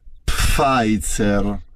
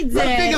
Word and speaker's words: Pfizer: Si pronuncia Pfizer. Pfizer. Non è Pfizer.